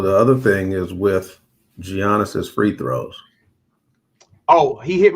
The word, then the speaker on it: Giannis: So the other thing is with Giannis's free throws.